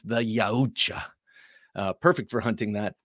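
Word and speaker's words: Yautja: for the pronunciation and sort of like Japanese you pronounce every letter so it's the yacha uh perfect for hunting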